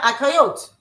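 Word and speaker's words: אחיות: Is akayot. A-C-H-A-Y-O-T. When it's just sisters, just a bunch of sisters gathering together. Okay. Yeah, akayot.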